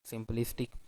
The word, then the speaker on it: simplistic: already verified it that the second one is correct simplistic and the reason might be that because in Sim holistic the first one is sim is a very short vowel which usually come in the an accented syllable or unstressed syllable then in traffic a